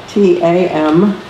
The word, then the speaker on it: tam: And the seed syllable of Tara is tam, T-A-M, tam.